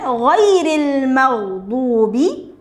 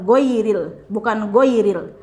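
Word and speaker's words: غير المغضوب: Kemudian ghairil maghdubi, pengucapan huruf ghain tidak seperti go, bukan goiril. Kalau go itu bahasa Indonesia ya, go gitu ya, go.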